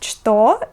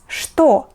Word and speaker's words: что: However, there are some words where this letter is pronounced not as Ch, but as Sh. For example, this word is not что, we read it as что.